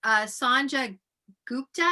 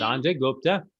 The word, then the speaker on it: Sanjay Gupta: Sanja Gupta, is that how you say his name? Sanjay Gupta. Yes.